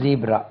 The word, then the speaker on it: zebra: அதே மாதிரி ZEB or ZEBRA first உச்சரிப்பு ஜெப்ரா, ஜெப்ரா, ஜெப்ரா. செகண்ட் தான் ஜீப்ரா. ரெண்டு உச்சரிப்பும் அக்செப்டட்.